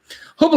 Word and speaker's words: Hubble: Hubble, of course, rhymes with trouble.